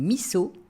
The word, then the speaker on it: miso: si dernier petit détail si je dis missau ce n'est pas parce que j'ai un fort accent alsacien c'est ainsi que cela se prononce au Japon la convention de transcription phonétique du japonais veut qu'un S se prononce S et non Z même s'il se trouve entre deux voyelles de la même manière